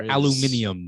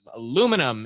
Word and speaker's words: aluminium: we were looking for is pronounced differently across the pond we're looking for aluminium aluminium aluminum is the powder inside